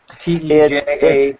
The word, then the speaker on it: Teja: T-E-J-A? It's T-E-J-A. It's pronounced Teja or Teja P, and his last name is Pangchingnula.